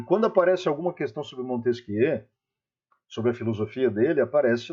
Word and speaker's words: Montesquieu: Montesquieu, o barão de Secondat, o Montesquieu já é francês, aí a gente vai ter que fazer a pronúncia do termo na pronúncia francesa, Montesquieu.